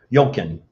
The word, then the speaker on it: Jochen: So It's like Duncan, but it's with a J, but you say it with let a me Y. look here at gallery.